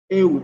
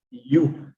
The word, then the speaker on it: ewe: But some people can say ewe, but it's not like that. It is pronounced as you.